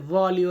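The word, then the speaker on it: voglio: এর উচ্চারণটা আসে না জি এর পরে এল এর উচ্চারণটা আসবে না এটা হবে ভয় মানে আমি চাই লাবোরারে কাজ করতে তাহলে ভলিও লাবোরারে বা ভয়ও লাবরারে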